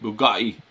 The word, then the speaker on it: Bugatti: You got to say it like uh Andrew Tate Bugatti.